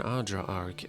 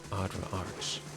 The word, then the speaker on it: Adra Arch: Like I said, okay, we're looking for an Audra arc, and it must be Yeah, I mean, it's already saying Audra Arc, so obvious. Arch. Sorry, my pronunciation was wrong. Adra Arch.